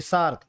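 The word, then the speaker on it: SAARC: सार्क बन गया।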